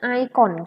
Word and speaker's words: ikon: Tulisannya ikon, bacanya icon gitu ya.